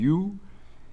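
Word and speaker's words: hue: Parce que U en anglais ça se dit U, et teinte ça se dit U aussi en anglais, mais ça s'écrit H-U-E.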